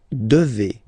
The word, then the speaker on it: devez: And then vous devez. Remember, classic ending for vous here, a Z, but then you pronounce this combination of two letters, et, devez, devez.